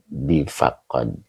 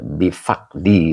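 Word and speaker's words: بفقد: Ini bukan bifaqqod. Faqdi ya. Bifaqdi begitu ya. He eh. Jadi bukan bifaqad. Oke. Siap Mbak Lia. Begitu ya. Jadi bacanya adalah difaqdi gitu. Faqdi itu artinya tiada ya. Begitu ya. Den maki bifaqdi, Ustaz. Iya betul. Bifaqdi bukan bifaqqad.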